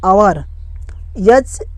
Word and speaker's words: hour: अब आता है आवर, HOUR, ओ से पहले एच आया है तो यहाँ पर आवर हो गया।